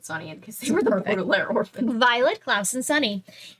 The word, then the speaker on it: Baudelaire: Baudelaire? Baudelaire, there we go.